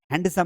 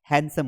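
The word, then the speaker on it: handsome: हैंडसम नहीं होता है। हैंडसम होता है। डी साइलेंट है यहां पर।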